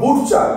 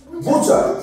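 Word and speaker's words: butcher: উচ্চারণ আমরা করবো না ফাস্টে কি বি ইউ টি সি এইচ ই আর এটা কখনোই আমরা বলবো না বুটচার এরম বলবো না কি বলবো বুচার বুচার বুচার বুচার কি বলবো বুচার বুচার বুচার মানে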